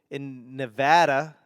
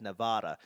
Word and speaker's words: Nevada: I do everything I can to get away from my accent, and Nevadians get really upset when people not from Nevada pronounce Nevada as Nevada.